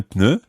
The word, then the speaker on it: pneu: French words, is un pneu. Un pneu. Sounds a little bit like you're sneezing. Un pneu. Bless you. Or it sounds at least as if you've got the cold.